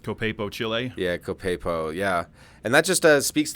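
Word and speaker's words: Copiapó: Yeah, I think it's Copiapo is how it's pronounced. Copiapo, Chile? Yeah, Copiapo, yeah.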